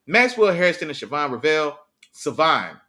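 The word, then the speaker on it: Shavon: Savon, the H is silent. Savon Ravel.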